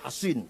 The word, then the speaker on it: Al-Hasin: Bisod ya, Hasin. Kalau Sin Husain bacanya. Kalau Sod Hasin bacanya. Al-Hasin Al-Khazraji punya anak tidak mau masuk Islam.